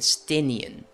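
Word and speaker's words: Estinien: Estinian. That's how you pronounce it. Estinian.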